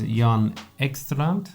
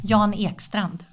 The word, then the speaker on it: Jan Ekstrand: See, I didn't ask him before we went on air, but I can say it in Swedish. Go on then. Jan Ekstrand.